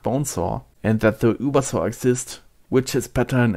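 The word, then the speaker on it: Über: servers by the way the correct way to pronounce Uber charge would be Uber charge as a German I can testify to that it is written in the game with the letter U and not U but seeing that the Uber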